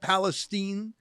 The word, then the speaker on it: Palestine: Ohio Lincoln great to see you am I pronouncing that right they call it Palestine yep you're bang on with the pronunciation all